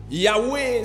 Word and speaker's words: Yahweh: pas comment on écrit le mot Yahweh, c'est Y-A-H-W-E-H. Regarde ton voisin, dis-lui, c'est comme si tu as mal écrit ça. Ta yebisa ndeka va mpemelo combien ngoma be ya. Y-A-H-W-E-H.